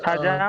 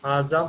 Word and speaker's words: هَذَا: Haja masajidun. Pradeep, your answer is right, but you have to say it properly. Haza masjidun.